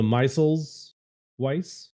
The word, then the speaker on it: Meisel's Weiss: is the Meisels Weiss. You're gonna have to spell that one for me.